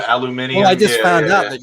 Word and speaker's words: aluminium: no it's the metal internationally is called aluminium that's how it's pronounced that's how it's spelt